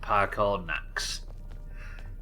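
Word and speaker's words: Paarthurnax: open the way to parthenox oh okay i'm off to go meet the boss i'm guessing the boss is that voice we just heard because that sounded like a dragon it's pronounced parkour max is that when you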